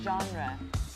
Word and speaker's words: genre: it is pronounced genre genre as we know there are some French words in the English language this is one of them and that's why we